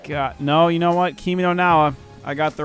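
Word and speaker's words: Kimi no Na wa: Kimi no Nawa. I got the right Shinane.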